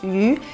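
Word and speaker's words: 鱼: Le mot poisson en mandarin se prononce yu, ce qui sonne exactement comme le même mot qui signifie abondance ou surplus.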